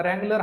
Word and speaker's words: Wrangler: नाव काय रगलर आता रगलर हा जो शब्द आहे त्याची जर स्पेलिंग जर तुम्ही जर बघितली तर डब्ल ने सुरुवात होते परंतु ज्यावेळेस उच्चार करतोय आपण त्याचा आपण आर पासून सुरुवात करतो म्हणजे थोडक्यात काय आहे तर